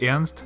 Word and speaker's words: Ernst: Americans would probably pronounce it something like Ernst, but Ernst is a German name pronounced Ernst, so I will say Ernst.